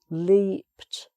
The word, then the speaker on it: leaped: So e-e, leaped, leapt. So, okay. And also, although this ends in a D, it sounds like a T because some verbs, if